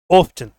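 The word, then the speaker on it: often: ऑफ्टन, ऑफन अक्सर, ऑफ्टन और ऑफन दोनों प्रोनाउंसिएशन है, मैंने डिटेल में बता रखी है टेंसेज में।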